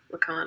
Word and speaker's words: Lacan: don't know how to he's french right lakan i'm kind of rhyming with pecan uh it's not a